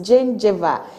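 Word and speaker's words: gingiva: and supports the teeth so the correct answer is Jin Jiva it is spelled g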